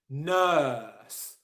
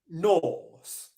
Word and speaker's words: nurse: It's work, nurse, shirt. Can you hear the difference? Work, shirt. Okay, it's long. Jenny, who is a nurse, who asked this question, said that she normally pronounces Norse.